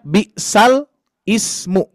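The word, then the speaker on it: بئس الاسم: Bisal ismu, biasanya kita membacanya seperti itu. Akan tetapi di dalam Quran surah Al-Hujurat ayat 11 ini dibaca ada yang tahu tidak Pak Bu? Istilahnya apa? Bisalismu jadi bisalismu ya.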